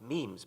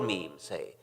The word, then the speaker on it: memes: the French word ma'am it should be pronounced to rhyme with cream just as genes are selected for their mutual compatibility so in principle might memes be the large literature